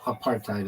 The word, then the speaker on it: apartheid: I mean, I I' used both of them, but well, I don't know if I've ever said, no, apartheid is what they say.